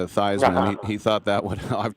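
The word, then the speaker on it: Theismann: It's it's crazy these days, but beating uh Thesman, who changed his pronunciation to Thyman.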